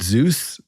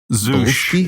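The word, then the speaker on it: Zus: Is it Zeus? Zeush is the way they pronounce it in the movie.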